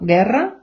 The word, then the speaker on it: guerra: іде е або і в таких комбінаціях у не читається Тобто ми читаємо Гера гітара у ми не вимовляємо Гера гітара друзі ви зрозуміли для